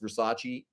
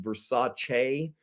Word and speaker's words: Versace: Did you know that Versace, that we all say in America, it's not actually pronounced Versace. It's pronounced Versace.